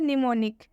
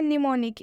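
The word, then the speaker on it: mnemonic: am silent होता है और वह वर्ड है निमोनिक सिर्फ एक यही वर्ड है सिर्फ एक यही वर्ड है जिसमें एम साइलेंट होता है बाकी किसी भी वर्ड में एम साइलेंट नहीं होता है इसे हम पढ़ते हैं निमोनिक इसमें एम साइलेंट होता है हम इसमें एम का उच्चारण नहीं करेंगे निमोनिक का मतलब होता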